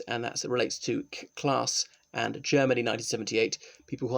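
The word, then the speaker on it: Klass: Roman law systems sa Class V Germany not sure so sorry for sounding northern English class but I think that's how it's pronounced as it's a German surname okay let's look at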